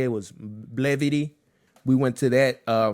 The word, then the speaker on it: Blavity: the um I think it's called Blavity or how they say it was Blvity. We went to that uh fest over here. You said it right. Blavity.